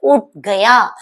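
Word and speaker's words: उठ गया: இங்கேயும் ஹைச் வந்து silent. So we have to pronounce like ut gaya.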